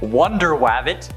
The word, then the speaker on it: Wonder Wabbit: The Crash was first introduced in Captain Carrot and His Amazing Zoo Crew number 14, which also features super superheroes like Wonder Wabbit, that's actually how it's said, Aquaduck, Batmouse, and